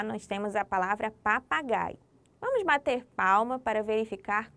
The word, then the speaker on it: papagaio: Qual foi a sílaba que você falou mais forte? É isso mesmo. Se você falou gai, está certo. Observe. Pa, pa, gaio. O gai se destaca entre as outras sílabas.